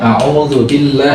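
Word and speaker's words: أعوذ بالله: Nah, jadi ainnya harus tetap panjang. A'udzu billah, dengan proporsional. Kalau kita bacanya cepat, berarti matnya juga harus tetap ada, tetapi juga proporsional dengan kecepatan itu.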